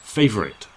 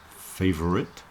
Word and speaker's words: favorite: if I'm speaking quickly I'll probably just do this as two syllables and say faite favorite favorite some people might do the middle syllable and say favorite but for me I'm